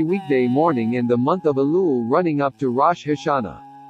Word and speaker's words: shofar: Angels musical instrument aaar offer chaar from Hebrew pronounced OFA listen is an ancient musical horn typically made